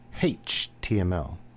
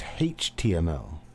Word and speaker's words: HTML: He pronounced it HTML. They put a hey on the beginning of their H's, so it's HTML.